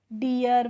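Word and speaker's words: deer: तो D double E आर और डी ई ए आर आप दोनों को ही क्या पढ़ते हैं? डियर पढ़ते हैं।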